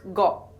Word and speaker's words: গ: of this set is go the pronunciation is similar to The Go in English word got Bangla letter go also